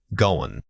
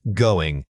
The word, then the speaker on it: going: Watch out for these three common mistakes. Incorrect. Going. Correct. Going. Many speakers drop the final G sound in connected speech which makes them sound much more casual.